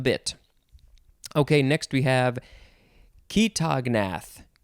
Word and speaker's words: chaetognath: Okay, next we have ketognath. Ketognath, I think that's how it's pronounced. It is spelled Chaetognath.